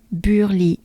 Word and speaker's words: Burly: Burly. U. Right? The droopy sound. It's the French droopy sound, right? So, be a droopy, a French droopy, and you pronounce it U. You drop everything, you close it. It's not fully closed. Your mouth is not fully closed, but close. U, right?